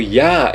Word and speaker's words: Yah: isso não é Javé não é Javé é Yahoo ou Iá todas essas duas formas estão certas porque significam a mesma